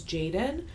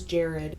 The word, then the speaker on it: Jared: time, for whatever reason, I kept referring to him as Jaden. So, my apologies. His name is Jared.